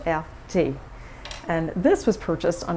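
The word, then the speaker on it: Erté: Roma dto and he took his name from the initials RT pronounced in French LT and this was purchased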